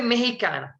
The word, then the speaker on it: mexicana: Soy mexicana. In Spanish, you don't, the X will pronounce here, mexicana.